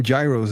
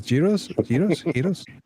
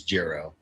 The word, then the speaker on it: gyros: I called them gyros. I didn't know it was giros. Geros. Technically, it is girro because there is no g sound in Greek.